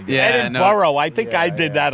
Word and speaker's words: Edinburgh: Ron is doing Edinburgh, which is the proper way to say Edinburgh. I used to say Edinburgh and people the people from Scotland would say, "It's Edinburgh." Yeah, I say Edinboro. It's Edinboro.